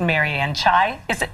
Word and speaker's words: Marianne Chai: Here to help turn those winter blues into a season of cheer, really, is psychiatrist Mary Ann Chai. Am I pronouncing it right?